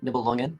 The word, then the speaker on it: Nibelungen: By the way, Nibelungen. I think that's actually how you say it.